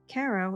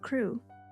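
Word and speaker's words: Crewe: Madame Pascal pronounced it as if it were ko instead of crew, but that might merely be a matter of pronunciation.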